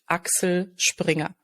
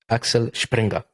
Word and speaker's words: Axel Springer: Okay, so the German pronunciation, Axel Springer. Axel Springer.